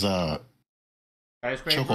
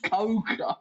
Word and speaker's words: Choco: Coco. It's pronounced Choco like chocolate.